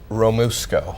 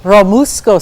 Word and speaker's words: Romesco: Practical Chef Craig Nasser is here with flank steak with, how do you pronounce that? Romesco. Romesco sauce.